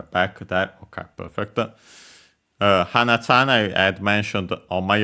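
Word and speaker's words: 花: Uh it comes from hana flower accent on the last syllable and the accent there is actually distinguishing uh part because uh without the accent it becomes nose hana uh oh yeah flower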